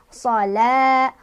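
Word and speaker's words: صلوة: Shalah, hati-hati ini wawu yang nggak ada harokatnya di Al-Quran cetakan Indonesia ini nggak dibaca ya. Sholat, jadi wawunya dianggap nggak ada ya, jangan terpengaruh.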